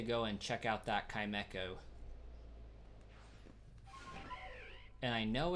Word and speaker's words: Chimecho: Like, no, it's literally Chime and Echo put together, and I still failed to pronounce it correctly initially, and so now it's just stuck there.